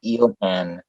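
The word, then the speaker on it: Ilhan: harvesting and um uh her first name is eel and i-l-h-a-n it's but it's it's a cool pronunciation of a foreign they are making muslims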